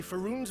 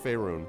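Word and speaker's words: Faerûn: Don't attempt to lay Faerun's woes solely at the feet of mages.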